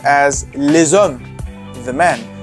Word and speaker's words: les hommes: So, for example, the men was pronounced as les hommes, the men. The S is activated and changes to Z.